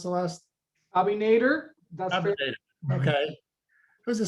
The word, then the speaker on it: Abinader: Is that how you pronounce the last? Abinader.